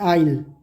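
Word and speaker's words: aisle: a passage between the rose of seeds in church थिएटर्रा उसको बोलते हैं आईल इसमें एस साइलेंट है एन एनिमल दैट लिव्स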